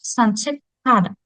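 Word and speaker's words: 산책하다: Коли літера кіт зіштовхується з літерою хід в наступному складі, то це асимілюється в придихову к. Тому ми будемо тут вимовляти санше када.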